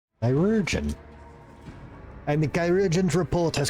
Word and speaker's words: chirurgeon: Kai, Re. Jun, stress on the second syllable. Chirurgeon.